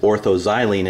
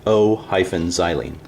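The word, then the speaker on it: o-xylene: xylene em - xylene in words you still say meta we wouldn't say em xylene or Oh xylene we would say ortho xylene but when we spell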